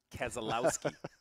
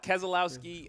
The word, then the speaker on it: Keselowski: this Arrow how do you say his name Keselowski I have my coffee going I had a little coffee going in the middle of keslowski I got call it Keselowski and then I hear every time Dale Jr